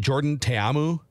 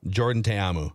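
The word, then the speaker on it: Jordan Ta'amu: Defenders QB uh it's is it Jordan tayamu I believe is how you pronounce it sure yeah Jordan TAMU yeah he's just behind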